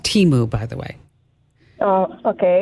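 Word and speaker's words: Temu: it does it's and it's it's called It's pronounced Teemu by the way oh okay that's all right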